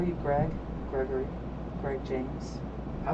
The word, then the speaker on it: Gregory: I've heard people say it with 4 syllables. How do you want it pronounced? Gregory.